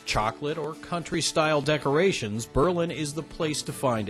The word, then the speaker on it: Berlin: places in Amish Country Berlin and yes that's the right way to pronounce it Berlin once a small Berg